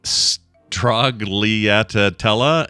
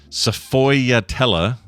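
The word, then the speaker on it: sfogliatella: Uh, so hello Strog Leatella and Bio.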